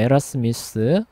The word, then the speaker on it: 에라스무스: 그다음에 로테르담에서는 데시데리우스 에라스미스입니다. 예, 에라스무스라고도 발음하기도 해요. 그래서 가장 유명한 두 사람이 토마스 모어, 그다음에 에라스미스 예, 두 사람이 예, 돼요.